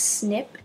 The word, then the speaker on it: SNP: it stands for single nucleotide polymorphism it's actually pronounced snip i created a little drawing for you there